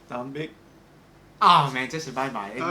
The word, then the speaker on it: Tạm biệt: Tạm biệt. Say it again. Tạm biệt. Tạm biệt.